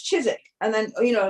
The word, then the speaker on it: Chiswick: when I came here I saw I saw you know there's chizik I would have said Chiswick but everybody's like no it's Chiswick and then you know